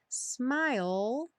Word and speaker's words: smile: atenção especial vamos lá smile sem pronunciar o e final essa palavra vai aparecer